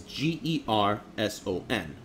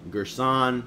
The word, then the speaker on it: Gerson: in real life it's g e r s o n Gerson gersan however you want to pronounce it right during class he